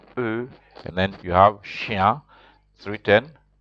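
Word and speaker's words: chien: see it is L and then you have Shia 310 c h i e n Lucia means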